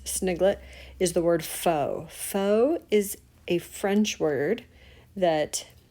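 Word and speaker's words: faux: to make this sniglet is the word foe foe is a French word that we have adopted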